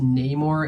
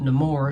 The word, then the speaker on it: Namor: as killmonger was also I am aware that it's pronounced Namor in the comics but the film pronounces it no more so I'm gonna go